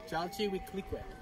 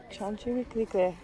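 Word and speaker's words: Chalchiuhtlicue: Her name is pronounced Chaletuklique. Chalchiwiklique. Chalchiwiklique.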